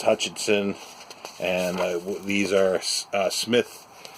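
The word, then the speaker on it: Psmith: It's Hutchinson, and these are Smith with a silent P, journalist, and Smith in the city.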